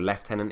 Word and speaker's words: lieutenant: But what you're basically trying to do, there's a lieutenant or lieutenant, if you say it properly like the British do, that has spawned in here, and he's surrounded by all the heavies and stuff.